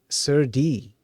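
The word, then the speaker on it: serde: is the name meant to be pronounced it's pronounced as s Sur D sir D okay um okay I didn't wait really give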